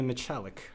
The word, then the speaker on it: Michalik: Today, my guest is Michalik, or is it Michalik? Michalik is the pronunciation that I generally use, but it is kind of made up because it's a Polish name.